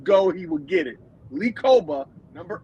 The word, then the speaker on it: Kpogba: plays at linebacker is Lee Koba. Lee Koba, first of all, his name is spelled Kpogba. It's weird the way it's pronounced, but he is a stud.